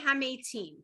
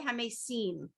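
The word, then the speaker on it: המתים: The way the Orthodox would pronounce it, or the way the Ashkenaz would pronounce it, it's Baruch Atah Hashem Mechayei Hamesim, right?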